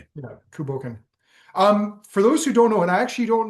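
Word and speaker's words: Cù Bòcan: ask for confirmation because I feel like I mispronounced it or I have historically. I I believe it's Kuboken. Kuboken. Okay. Yeah, Kuboken.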